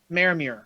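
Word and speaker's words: Maramuir: Pronounce it. Maramir.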